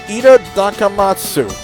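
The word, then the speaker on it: いただきます: I'm gonna try to pronounce it. Ida Dakamatsu.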